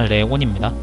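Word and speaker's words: León: 이벤트는 좀 많아지겠지만 다시 말하지만 저걸 레옹 아닙니다. 레온입니다. 이렇게 말하면 또 그냥 읽는 방식의 차이인데 뭐가 맞고 뭐가 틀리면 그렇게 얘기할 수 있느냐. 저는 있다고 생각해요. 그 나라 땅이면 그 나라 발음대로 읽어줘야지. 레옹이라 읽으면 아 그건 프랑스식일걸?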